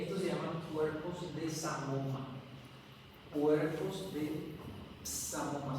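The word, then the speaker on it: psammoma: se llama cuerpos de Samoma. Cuerpos de Samoma. Se escribe con P, P S A M. Samoma. Eh, doble M. Sam, M M O M A.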